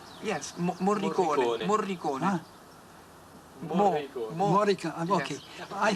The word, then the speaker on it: Morricone: I think that Marconi's music, did I pronounce his name right? Yes, Morricone.